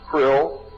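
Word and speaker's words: Krll: His name and title was his omnipotent Highness Krill, pronounced Krill, spelled K R L L C R L L.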